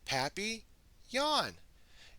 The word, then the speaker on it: Papillon: like our neighbor's dog you say it like this Pappy Yon in French it means butterfly I help Miss Divine